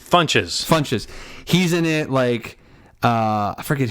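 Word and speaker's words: Ron Funches: Funches.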